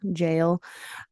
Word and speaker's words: Jael: Well, it's spelled Jael, jail. That's how we pronounce it. I guess it's there's a Hispanic version pronunciation.